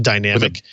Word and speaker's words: DynamIQ: The interesting thing about what ARM announced this week, the DynamIQ, which is spelled DYNAMIQ, but pronounced dynamic, is intercapped on the I and the Q.